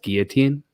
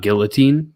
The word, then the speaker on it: guillotine: package, say promo code guillotine. Jesus So Christ. that's how I know you're from the Ontario province and not the Quebec province, because it's pronounced guillotine, not guillotine.